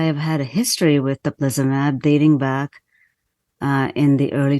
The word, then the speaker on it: teplizumab: So during development, the medication was called Teplizumab.